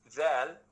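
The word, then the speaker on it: ذال: Zal, you say it when hanging out your tongue between your teeth, so it becomes Zal.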